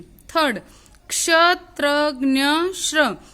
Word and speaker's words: क्ष: जैसे क्ष, क्ष का हम उच्चारण करते हैं तो हम पहले क, उसके नीचे हलंत आधा क बोलते हैं प्लस श बोलते हैं तो क्ष बनता है।